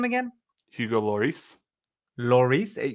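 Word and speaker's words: Lloris: goalkeeper's name again Hugo lorice lorice so you do say the L pretty sure it's not Loris it's it's not Loris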